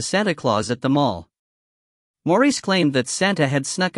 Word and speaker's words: Maurice: I had also seen Maurice, pronounced Maurice, Gardner, who was something